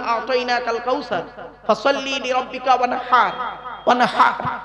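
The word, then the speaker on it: وانحر: কাউসার ফসল্লি লিরব্বিকা ওয়ানহার ওয়ানহার এই গলার ভিতর থেকে হেটা উচ্চারণ করবেন ফসল্লি লিরব্বিকা ওয়ানহার এর মানে হচ্ছে নবী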